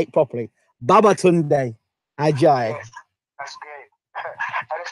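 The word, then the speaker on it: Babatunde Ajayi: Baba Tunde Ajayi.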